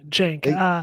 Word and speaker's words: Cenk: yeah, Jank. Why do they say Senk? Some people say Senk, right? Because it's spelled CENK. Well, people are wrong when they say Senk. It's They Jank. are. It's Jank. Jank.